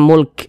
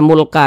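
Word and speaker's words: مُلْك: hul Mulk kemudian ini kalau kita berwakaf di huruf Kaf kita baca Mulk Jangan dibaca mulka jangan huruf kafnya kita sukunkan atau kita matikan Kenapa begitu Jadi kalau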